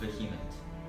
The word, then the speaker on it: VHEMT: The Voluntary Human Extinction Movement, VHEMT, pronounced Vehement.